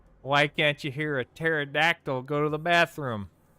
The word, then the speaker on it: pterodactyl: Hey, why can't you hear a pterodactyl go to the bathroom? Because the P is silent.